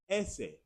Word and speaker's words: ese: The letter S in Spanish is ese, ese, ese.